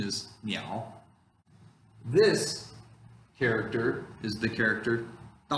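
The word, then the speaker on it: 鸟: is a picture of a bird okay the pronunciation is meow this character is the character and it combines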